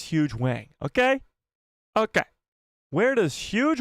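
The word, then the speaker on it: Hu Yang: huge way I mean h yangang a lot of you guys have been complaining about the way I pronounce his name and you know what you're right okay you're right it's huge Wang okay okay where does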